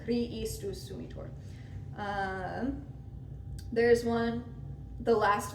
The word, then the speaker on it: Christus: It should be Kri for 3 beats, and then the S comes in. Christus sumitor.